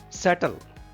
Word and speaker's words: subtle: Subtle. Subtle. B is silent here.